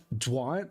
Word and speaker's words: Jean: Instead of, oh, Dwan? Kirby, how do you, like Dawn, but with a J? Dwan? I've always seen that kind of pronunciation spelled pronounced Jean, like French.